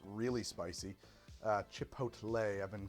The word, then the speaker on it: Chipotle: I've been called a boomer for calling it chipotle. Chipotle. Oh, chipotle. Chipotle. Yeah. Just make it doesn't fit in your mouth as easy. The boomer pronunciation is chipotle. That's what my mom Chipotle.